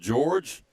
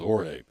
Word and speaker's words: Jorge: Now, I've heard it pronounced George and I've also heard it pronounced Jorge. I'm with Jorge. That's uh J O R G is typically pronounced Jorge. That's what I'm going with.